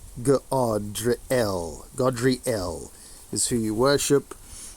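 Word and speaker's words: Gadreel: Godriel, not pronounced Gad, Godriel.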